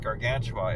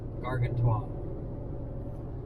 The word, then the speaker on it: Gargantua: Konrad was so nice to point out that it's not pronounced Gargantua, it is pronounced Gargantua.